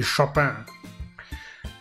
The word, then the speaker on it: Chopin: Oh, Chopin, or however you want to Englishly pronounce it, but I believe the French pronunciation would be Chopin.